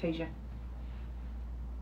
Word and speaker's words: Tasia: Oh, yeah, Tasia. She said it's right. You said it was Tasha. I thought it was Tasha that spelled Tasia. She said I said it right.